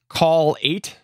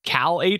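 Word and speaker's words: Kall8: some experience with is call 8 except it's like cal 8 almost it's k-a-l-l-8 so i don't know how they want to pronounce that but uh yes that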